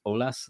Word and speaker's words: Eolas: Um so the easiest way is if you think about dropping the E and just OLAS that's the that's the the easiest way to think about pronouncing it.